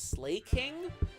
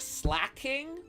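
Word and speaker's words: Slaking: I'm slay King slacking that's another Pokemon name that I've always pronounced wrong for some reason I always thought his name was slay King not slack King even though he is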